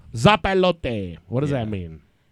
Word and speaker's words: Zopilote: How do you guys pronounce that? Zopilote. Zopilote.